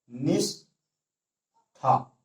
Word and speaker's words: निष्ठा: देखने में कहने में सही लग रहा है, लेकिन गलत है, क्योंकि ये तालव्य सा का यहाँ प्रयोग हुआ है, और यहाँ पे जो हमारे उच्चारण करने से पता चल रहा है मूर्धन्य सा का प्रयोग होगा, वो भी आधा।